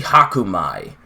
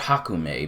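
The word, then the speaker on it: Hakumai: past wha no country Haku my and I got that name wrong when I read the last chapter I call it Haku me but it's Haku my MA I why were you trying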